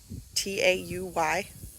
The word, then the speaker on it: Tauy: Tauy. Pronounced toy. I know it's weird. But there's a creek down on our lower part of our property called Toy Creek, hence the name.